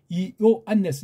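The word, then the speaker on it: Ἰωάννης: 아우튼역도 역시 여기 아우토스, 아우트 똑같은 그이의 즉 호, 이오 안네스. 이거 이오 안네스라고 읽는 거 알죠? 이게 요한이 아니에요.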